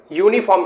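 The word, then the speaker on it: uniform: यूनिफॉर्म यानी फिर से वॉवेल शुरुआत में है, लेकिन यहां पर ए लगा, एन नहीं लगा, क्योंकि इसका हम जो है उच्चारण यूनिफॉर्म करते हैं और ये व्यंजन शुरू होता है।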